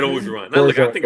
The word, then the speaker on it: Orgeron: Origin? Ed Orgeron.